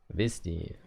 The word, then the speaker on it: Visti: It's Visti. Visti. Okay. Visti.